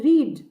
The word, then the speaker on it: read: भी READ ही रहेगी, लेकिन बस भूतकाल में इसे प्रोनाउंस करते हुए हम कहेंगे रेड।